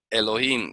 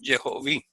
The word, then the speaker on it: Elohim: vocales e o i, lo que tienes que leer es Elohim y no Jehoví. Sería un error garrafal leer Jehoví.